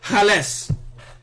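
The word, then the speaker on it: חלץ: It's a word called hales. Hales. That's Strong's H2502. Hales. And it's spelled CHALATS.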